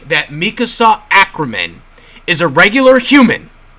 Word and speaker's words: Mikasa: Okay, about the whole Mikasa thing, which, yes, her name is pronounced Mikasa, by the way. I was seeing some videos yesterday of some people like, no, it's pronounced Mikasa, guys.